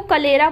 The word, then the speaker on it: कलेरा: ठीक है, करेला को कलेरा बोलते हैं। ठीक है, वो ल और र इधर उधर हो जाते हैं।